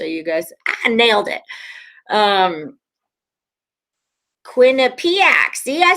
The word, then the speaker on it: Quinnipiac: this down so you guys nailed it um quinnipiac see i said it right cabber's direct 10